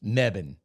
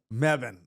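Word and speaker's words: Mebane: b a n e yeah maban it's closed meban meban oh that was that close that was way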